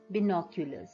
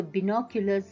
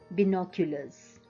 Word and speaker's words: binoculars: now this is a binoculars okay some of us pronounce it as binocular but that is not the correct pronunciation so binoculars is the correct pronunciation when you read you should read it binoculars so to take up